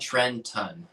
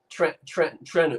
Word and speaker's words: Trenton: If you're from South Jersey, skip the T. That's right, Justine. Trenton. Trenton.